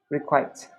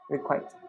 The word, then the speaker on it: requite: Requite. Okay, rhymes with quite. Thanks. Requite.